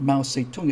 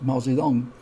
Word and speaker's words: Mao Zedong: not peaking it's beijing and that guy in question that mass murder is not mao seitung it's mao zedong and those english words have been updated to better represent the sound on the ground one of my it's